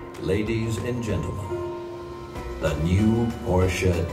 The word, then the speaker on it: Porsche: And by the way, it's also Porsche.